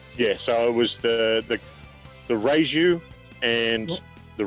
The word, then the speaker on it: Raiju: Yeah, so it was the Raiju and the Rayon. Raiju, Rayon.